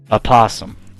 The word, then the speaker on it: opossum: Opossum. Okay. Opossum. I was gonna say the O in opossum, but apparently it's not silent, so I can't complain about that one.